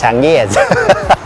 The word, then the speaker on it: Changyes: This workshop is called Chang Yes. Yes, pronounced Chang Yes. Don't mispronounce it!